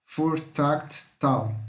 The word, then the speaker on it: voertuigtaal: E aqui é som de F, tá? O V. Aqui U com I tem som de A, então voertuigtaal, tá? Que o G é mudo.